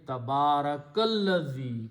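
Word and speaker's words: تَبَارَكَ ٱلَّذِي: Tabaraka and Allazi, you do not pronounce this Hamzatul Wasl in between. So the pronunciation will be Tabarakallazi. Combine kaf with this lam, ignoring the sound of Hamzatul Wasl.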